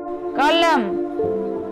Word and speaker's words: column: The letter N is silent in the final Amen. Autumn. Column. Him. Condemn.